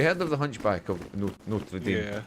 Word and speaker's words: Notre Dame: Notre Dame always makes me laugh because we pronounce it Notraam, but that's another debate we're not getting into.